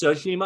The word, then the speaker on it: Tsushima: I think it's Tsushima. I think the T is like silent, but that game to me was the best game of last year.